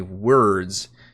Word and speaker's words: Wyrds: is supposed to be the deck of many words because of the way the pun is used throughout this uh supplement but then i looked it up and i think it's supposed to be pronounced weird so i don't know maybe they're both okay but anyway this deck